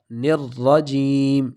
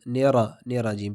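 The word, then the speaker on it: الرجيم: تلفظ سے پڑھنا ہے۔ نرجیم، ایسا نہ ہو جائے کہ ہم نیرا جیم پڑھ لیں، تو تشدید کی وجہ سے سختی اور جماؤ کے ساتھ پڑھنا ہے۔ نرجیم۔ آگے جیم، اس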